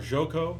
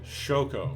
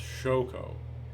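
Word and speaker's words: Xoco: It's also more, or like, okay, Shoko, sorry, it's pronounced Shoko.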